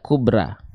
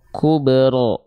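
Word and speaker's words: كبرى: vokal a Oke baik tapi kenapa huruf RO di sini ketika dia berharakat fathah dia dibacanya tidak dengan vokal a loh dia dibacanya tidak tidak kubra tapi dia dibaca dengan vokal o condong kepada vokal o Kubro kenapa kenapa enggak kuberra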